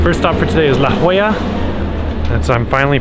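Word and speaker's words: La Jolla: all right first stop for today is La Hoya that's I'm finally pronouncing that properly and it's a richy rich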